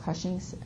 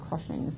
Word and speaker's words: Cushing's: So if you're excreting too much cortisol, you have something called Cushing's syndrome. I always want to throw an R in there and say Cushing's, but Cushing's syndrome, I said it right.